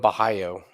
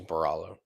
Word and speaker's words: Borralho: for I'm rooting for they're calling him Baho my dumbass American pronunciation is baralo there it is man